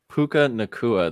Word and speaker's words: Puka Nacua: Puka Nacua.